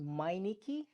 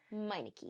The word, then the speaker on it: Meineke: tricky in the tongue but it's called It's pronounced miniki miniki it is German from what I believe so